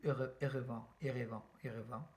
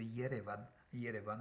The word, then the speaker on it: Yerevan: donc qui s'écrit aujourd'hui Erevan, qui n'a, qui n'est absolument pas fidèle à la prononciation arménienne de Yerevan, voilà, que d'ailleurs les Anglais donc, et les Américains donc, écrivent Yerevan avec un Y, voilà.